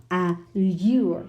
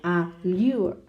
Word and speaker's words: allure: Well, the stress is on the last syllable. What does that mean? The stress is actually on the U-R-E part of the word. No? Allure, no? Allure. Compare with structure. Structure, it's on the first.